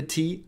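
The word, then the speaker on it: て: stroke so they it it is pronounced like te in telescope can you see a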